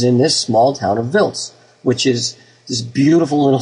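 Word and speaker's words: Wiltz: it's VZ not wilz VZ will it's it's pronounced vils but you you know sometimes the Americans call it wils but same same place no matter what they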